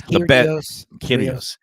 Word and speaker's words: Kyrgios: How do you pronounce that? It's Kyrgios.